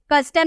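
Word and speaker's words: custom: ठीक है, कस्टम लिखिए, यहाँ पे आपको सी के बाद यू नजर आ रहा ना, सी के बाद अगर आपका यू नजर आए तो आपको उसका कॉ में प्रोनाउंसिएशन करना है, हम बोलेंगे कस्टम, ठीक है, कस्टम।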